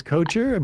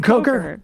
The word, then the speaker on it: Kocher: I pronounced it that way because I messed Emma Sam told me up. that it was Kocher, but I it's actually second guessed Kocher.